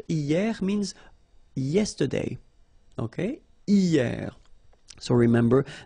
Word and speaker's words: hier: And then the first one is hier. Hier means yesterday, okay? Hier. So remember, this H here is not pronounced, okay? So hier.